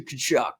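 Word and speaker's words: Tkachuk: two kachu brothers and so are you saying two kachu brothers both of them but he's like no those two k shock brothers so uh we haven't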